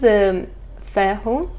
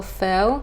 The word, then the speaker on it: Fehu: So this is Fehu or Feo, depending who pronounced it.